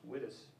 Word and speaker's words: Wittes: And if you've read the article, you know that it's Benjamin, I think his last name is pronounced Wittes.